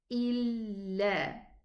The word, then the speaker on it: إِلَّا: The Shadda sign means I'm gonna pronounce it like this. Illa. Illa. 2 counts for the alif.